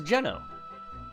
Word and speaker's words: Geno: This is Geno. Or Gino. It's probably pronounced Gino, but who I told you about before.